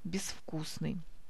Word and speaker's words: безвкусный: А вот в слове «безвкусный» мы пишем приставку «без» по нашему правилу, так как следующий идет звонкий согласный, но произносим здесь глухой звук «безвкусный». Правописание слова «безвкусный» следует запомнить.